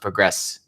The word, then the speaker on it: progress: I said progress as a verb, which is pronounced progress. You can progress faster. I said you can progress faster.